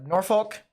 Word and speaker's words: Norfolk: in both ways so Norfolk as some people call it nor the answer is both I've heard people pronounce it both that are local to that area norfol yep that's fine dreamcatcher thank